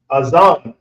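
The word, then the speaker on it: אוזן: is the ear and the ear is pronounced Aon so that's the A and then the zah and then there's the na but it's at the end of the word and these are connected so is aan so we draw the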